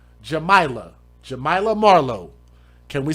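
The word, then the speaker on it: Jamaylah: Jamaa is spelled J A and then May la. Jamila.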